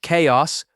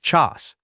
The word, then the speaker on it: chaos: It sounds like chaos with a hard K sound, not chas.